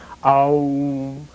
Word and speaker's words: Om: The U comes forward, up through the throat. The sound of the air mass is filled, and the M is closed at the lips. OM, like that.